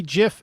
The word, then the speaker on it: GIF: a jam guy okay I believe that's supposed to be GIF hard G GIF is peanut butter uh yeah GIF is a hard G uh G saying I